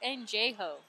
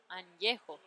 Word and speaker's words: Añejo: No, he calls it Anjejo. Anjejo. Añejo. Añejo. I know what añejo is. It's tequila. Why did you call it Anjejo?